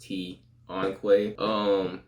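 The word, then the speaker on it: Ton'Quay: But that's apostrophe, so it's pronounced T-on-Quay.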